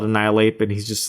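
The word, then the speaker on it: Annihilape: is pretty awesome and is it spelled like annihil ape annihil ape oh yes I see oh that's great and like you just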